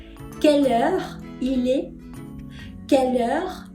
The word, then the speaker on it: quelle: Porque la final no se pronuncia. Yo no ando por la vida diciendo quelle. No. Je dis quelle.